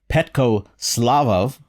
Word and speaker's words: Petko Slavov: name is petco slavov i hope i pronounced that correctly petco welcome to the show why don't you start off by telling us a little bit about yourself where you grew up and how you first got into music hello thanks for inviting me well you said it right my name is beth